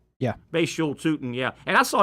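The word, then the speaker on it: Bhayshul: Because a third back, I should say, entered the fray, 4th-round pick, and how do you pronounce Bashul? Yeah. Bashul Tootin, yeah.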